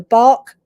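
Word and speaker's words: Bach: also um available overseas the bark flare remedies which is is spelled b a c h um they over the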